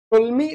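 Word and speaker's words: Ptolemy: एक होता है टोल्मी theorem, टोल्मी theorem, I hope P silent होना चाहिए, पढ़ने में बड़ा दिक्कत हो रही है।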